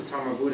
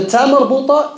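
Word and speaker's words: تاء مربوطة: The tamarbuta is a ha that has two dots on top of it. That's a tamarbuta. You say, and when you stop on the Tamarbuta, it's pronounced as Ha.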